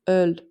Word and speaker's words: Öl: Now imagine O umlaut as a surprised face. Those two dots are the eyes, and the O is the open mouth. That's exactly how your lips should look when you pronounce it. Example is öl.